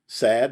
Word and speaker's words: Sad: Sad, did I say it right? Okay. It's like unhappy.